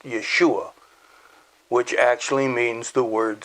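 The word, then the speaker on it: ישוע: which in hebrew as i've said before is pronounced yeshua which actually means the word salvation matter of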